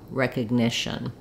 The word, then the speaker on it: recognition: the letter O uh and then the shun syllable I've written it here with no vowel you'll see it in the dictionary with an uh or an i sound but basically it's a very reduced vowel you want to move quickly from the sh to the N shun with almost no vowel there recognition if you have